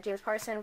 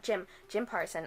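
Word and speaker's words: Jim Parsons: Or buy the audiobook, because there's a huge cast, including James Parson from Big Bang Theory. I said his name wrong. Jim Parson.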